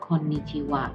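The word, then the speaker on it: こんにちは: tetapi hak ya setelah Untuk penulisan partikel khusus untuk Konnichiwa WAnya disini bukan gua pada deretan Wawan tetapi pada deretan high wayang di sini ya tapi dibacanya dengan Konnichiwa meskipun ditulisnya dengan akhir adanya Oke kemudian ada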